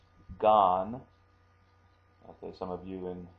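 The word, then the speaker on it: 眼: means actually eyeball and also can be pronounced Gan okay some of you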